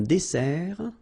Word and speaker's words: dessert: So, remember that we've got here two S. Okay? That's the reason why you pronounce it S. And then it opens the dessert. Un dessert. So, you don't say un dessert. Okay? But you say un dessert. Final T not pronounced.